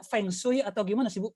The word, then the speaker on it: feng shui: tahun 2002 momong bacanya fengshui atau gimana sibuk pelafalannya Bu Iya itu kalau bahasa Indonesia kita membacanya sebagai tertulis ya fengshui gitu oke tapi kalau bahasa Mandarin itu bacanya fungsi gitu artinya nanti kita bahas